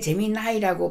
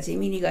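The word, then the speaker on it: Gemini: 그래서 구글의 재미 나이는 구글의 재미 나이라고 발음합니다 재민이가 아니고 재미 나이는 어 조금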